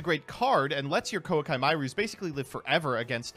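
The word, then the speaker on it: Koa'ki Meiru: He just said Koakai Mairus. I'm pretty sure it's Kwaki Miru, right? Like, am I crazy? I need you guys to tell me. Because if that's the case, then yet again, another card I've been pronouncing wrong my entire life.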